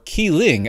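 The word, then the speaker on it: Kling: I manag you with clling or keing as it's actually pronounced it I'm still probably screwing that up uh but no joy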